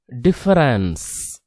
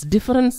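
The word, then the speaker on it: différance: In order to describe how meaning is generated from a text, Derrida coins a term called difference, not difference, difference, pronounces as difference.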